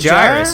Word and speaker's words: Gyrus: No, it's gyrus. He said yeah, he said in the live stream that that gyrus rhymes with iris.